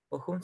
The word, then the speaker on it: Bochum: Aquí me va a tener que ayudar, por favor, con la pronunciación. Bochum, creo que es. Bochum, sí.